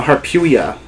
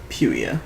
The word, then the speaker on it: Harpuia: No, Harpuia. It's Puia at the end. Puia.